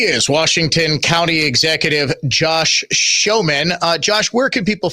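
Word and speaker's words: Schoemann: But it's pronounced like The Greatest Showman.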